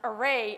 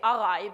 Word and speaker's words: array: velocity like fun fact I didn't know how to properly pronounce array until I was in a university I used to say arai because I got it